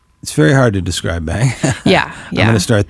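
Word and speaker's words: Seyn: is distinguished from being so be y n which we pronounce bang is distinguished from be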